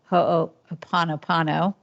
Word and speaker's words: Ho'oponopono: And so about a year, or maybe year and a half ago, my husband and I started doing this Ho'oponopono, however you pronounce it.